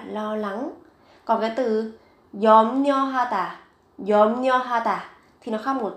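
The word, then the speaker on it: 염려하다: Yomnyohata, yomnyohata. Các bạn chú ý về cái phát âm, viết ở đây là ryo nhưng mà khi phát âm thì các bạn đọc là nyo.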